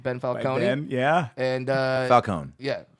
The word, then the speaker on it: Falcone: And Falcone. Yeah. I pronounce the E. That's how the dwarves say it.